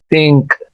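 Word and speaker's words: think: के करीब तर है, इसको आपने था नहीं पढ़ना बल्कि ज़बान की अपर टिप को ऊपर वाले दांतों के साथ लगाते हुए नरमी के साथ, बहुत, बहुत।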